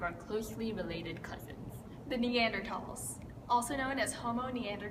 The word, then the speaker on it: Neanderthal: was discovered in Germany the pronunciation results in the H being dropped so it's just pronounced T thus Meander tall yeah